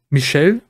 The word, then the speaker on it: Michel: Kann natürlich sein, dass der, es wird französisch ausgesprochen, stand in den Kommentaren, Michel, auf jeden Fall der Typ, den ich für